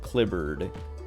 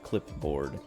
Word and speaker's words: clipboard: or asked about like how you pronounce clipboard, because it's spelled clipboard like blackboard and cupboard, but cupboard. Because I don't remember if it was a girl or a guy, but they were saying that a girl they know pronounces clipboard clibbered, like cupboard cupboard, cupboard, clibbered, clipboard. And it was like, everyone was like, dude, I've literally never heard that.